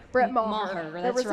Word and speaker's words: Brett Maher: Yes, pronunciation, Brett Maher.